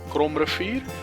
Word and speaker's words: Kromrivier: I'm going to pronounce it in my native language, Afrikaans. It's the Kromrivier and the Bergrivier, which is basically the mountain river and the Crooked River.